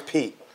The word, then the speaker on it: Pete: And his name is Pete, not Pate. Pedro.